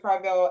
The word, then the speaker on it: Corvell: to Jason uh thank you so much Mr cravello am I saying it correctly Carvel you are saying it correctly but you don't